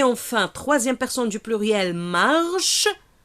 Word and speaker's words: marchent: troisième personne du pluriel marchent marchent plus nt marche regarder nt comble eux ne se prononcent pas flet verbe attention marche ça se prend on ça on va pas dire marchand ok donc je fais la